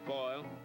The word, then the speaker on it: Foyle: Joe Foyle. Rhymes with oil.